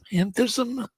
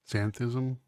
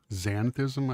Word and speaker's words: xanthism: Antheism. Zanthism. An say it again. Xanthism.